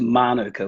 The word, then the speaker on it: manuka: kind of dangerous okay mark so firstly it's pronounced manuka with the emphasis this is a maori yeah